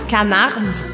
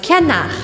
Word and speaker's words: canard: E eu não falo canard, mas canard, le confit de canard.